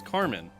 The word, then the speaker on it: Carmine: don't know why yeah it's spelled the same but when you say it in a feminine way it's Carmen is it I didn't